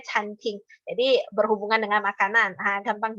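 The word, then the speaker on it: 餐厅: Cuma dia memang nadanya mirip dengan kantin ya kan. Tapi bacanya canting.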